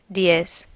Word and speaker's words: diez: Dias in Spanish is days, or buenos dias, good morning, but diez has a stronger sound at the end, so it means 10.